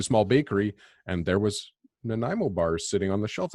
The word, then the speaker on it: Nanaimo: key three times and he says that it's pronounced Nana mo you like story my family and I went to Hawaii in mid 80s and we went into a small bakery and there was Nanaimo bar sitting on the shelf I thought that's